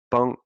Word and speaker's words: bon: You want to click on Bong, this highlighted speaker icon, bong, and it sounds like bong, bong, right?